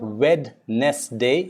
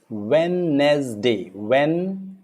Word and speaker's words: Wednesday: The letter W is like, say for example, it's not Wednesday, it's Wednesday. Wednesday.